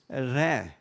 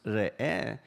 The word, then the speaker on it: Re'eh: I know many times it is pronounced Re'eh, and sometimes you have a Resh or an R and an E there. But actually, if you notice in the Hebrew, the Resh there has a Shva. That Shva is not an E sound, although in modern Hebrew and English speakers will pronounce it as a E sound.